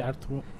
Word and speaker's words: Ertuğrul: There's one thing about Ertuğrul which it took me about a year to know that there's no G to be pronounced.